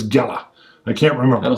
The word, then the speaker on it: Gela: It's Gela Beachhead. I think it is pronounced Gela or it's Gela.